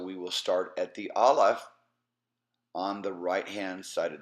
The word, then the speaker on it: Aleph: And so we will start at the Aleph on the right-hand side of the page, and